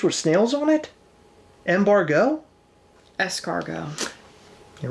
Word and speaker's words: escargot: Escargot. You're right. Take the M out, put the S in there, it all works. And it's annoying because it's spelled with a T at the end.